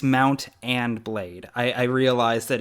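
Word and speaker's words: Mount & Blade: yes because the pronunciation is it mount and blade or mountain blade it's it's three three words okay yeah it's mount and blade I I realized that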